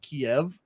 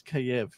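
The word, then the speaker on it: Kyiv: not to call it kiev yeah and then i had a friend text me she's like yo yo dude it's i i speak ukrainian it's kiev and i was like oh two syllables yeah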